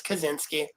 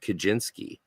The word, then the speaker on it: Kaczynski: as It's a Z, yeah, not a CH. It's Kaczynski. yeah. Yeah. Well, he pronounces it Kaczynski.